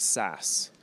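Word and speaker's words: SaaS: a service platform now you know how SAS software as a service is pronounced SAS so it kind of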